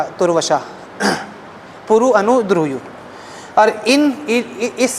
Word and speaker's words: तुर्वशा: अंग्रेजी में स्पेलिंग है TURVASHA, त में आधा उ वशा, तुर्वशा, पुरु, अनु, द्रुह्यु।